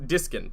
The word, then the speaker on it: Diskin: did you think it was no it was diskin yeah yeah yeah yeah yeah i i didn't